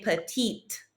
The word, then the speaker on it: petite: Now, if I add an E to that, because I'm describing a female, I'm going to hear that T then. So, il est petit, elle est petite.